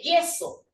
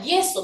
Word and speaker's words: yeso: Si usted me dice yeso, de la palabra yeso no me vas a sacar un diptongo, porque esa Y suena a doble L.